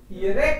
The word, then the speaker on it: ihre: ihre Kinder, ihre Kinder, ईयर Kinder, H को silent रखते हैं अपन, ईयर ईयर नहीं बोलना, ईयर एच इज साइलेंट, बीच में आ रहा है।